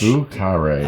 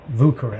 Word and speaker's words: Vieux Carré: Today we're going to make the Vieux Carré. Yes. Vieux Carré. Vieux Carré. I put the pronunciation key in there. Oh, look at you. This is the French. Vieux Carré. It's like Vieux, V-O-O. Vieux Carré.